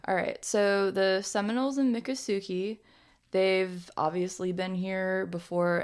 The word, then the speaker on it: Miccosukee: so yeah dick already maka Sookie maka Sookie no Mick Miccosukee Miccosukee sorry everyone Miccosukee ok Miccosukee I'm probably still gonna it up that's fine alright so the Seminoles in Miccosukee they've obviously been here